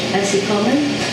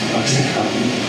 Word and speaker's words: OxyContin: Now I've got the Oxycolon? Oxycontin.